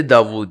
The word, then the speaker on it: داؤد: میں نے صرف اس کا تلفظ بدلا ہے, ڈیوڈ سے داؤد.